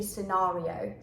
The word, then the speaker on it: scenario: speak more american-like and i used to say scenario and i had no idea that it's different in the british english so it should be scenario scenario and it seems like